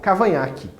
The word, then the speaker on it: Cavaignac: temos um general francês chamado general cavanhaque se escreve desse jeito cavaignac mas é general cavanhaque o general que apanhar